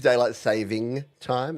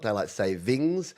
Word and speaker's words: daylight saving time: SA and I know it is daylight saving time it's not daylight savings uh there's a a